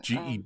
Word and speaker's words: Gebacondor: Gebacondor, Gebacondor, just like Condor.